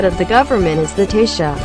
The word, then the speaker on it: Taoiseach: The head of the government is the Taoiseach, pronounced Taoiseach, which means chief.